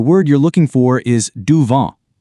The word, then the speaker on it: du vent: For those breezy days, the word you're looking for is du vent. Notice how the T is silent.